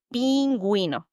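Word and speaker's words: pingüino: Just remember the little cute penguin needs you to pronounce the U.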